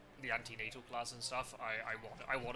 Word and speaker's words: antenatal: Yeah, but in English they're called antenatal, but yeah, it'd be prenatal. Ante as in E, not I.